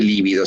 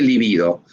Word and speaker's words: libido: Es en la mayoría de los casos la libido, no se dice líbido, se dice libido. Te digo, para cuando te tome examen alguien de la parte de psicoanalítica, no digas líbido, decís libido, ¿de acuerdo?